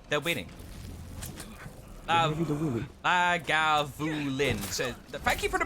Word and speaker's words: Lagavulin: Lagavulin. So, thank you for the pronunciation help there, Dinagir.